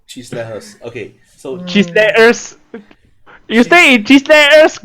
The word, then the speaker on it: Chislehurst: The name of this road was proposed as Chislehurst in 1955.